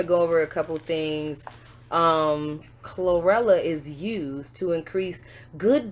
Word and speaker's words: Chlorella: Chlorella. Did I say it right? Corolla. Not Corolla. You said it right. Chlorella.